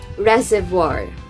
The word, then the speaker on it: reservoir: are you sure so the correct pronunciation of that word is reservoir reservoir reservoir indian dresser